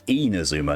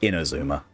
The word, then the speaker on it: Inazuma: these sorts of customs I realize I've been pronouncing this region wrong the entire time it's Inazuma not inner Zuma if season brings its